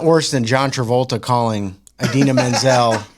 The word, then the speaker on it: Idina Menzel: I mean, it was like, it's not worse than John Travolta calling Idina Menzel Adele Dazeem.